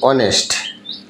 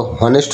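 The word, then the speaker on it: honest: ভাওয়েলের sound অনেস্ট, আমরা তো হনেস্ট উচ্চারণ করি না।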